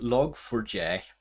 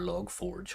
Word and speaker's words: Log4j: a journey here so log for j or log forge however you want to pronounce it i think the most